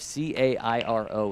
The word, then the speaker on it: Cairo: a city name of c a i r o in Georgia how do you say that name Cairo oh good job I like it I